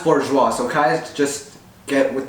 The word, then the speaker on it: bourgeois: for today mr wang mr wang what's a borgus oh my gosh me from the past it's pronounced bourgeois so guys just get with the show already